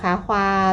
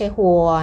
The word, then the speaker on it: 花: ๆ ก่อน นะ คะ อย่า ลืม นะ คะ ควา ต้อง อ้าบ ปาก กว้าง ๆ ด้วย ค่ะ ลง ท้าย ด้วย สระ า นะ คะ ไม่ ใช่ ฮัว นะ คะ า ค่ะ า